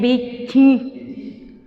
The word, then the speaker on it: bichi: Kobo, ku, bichi, cuando pronunciamos chi, abrimos nuevamente la fosa nasal. Si la cerramos diría bichi, y es bichi.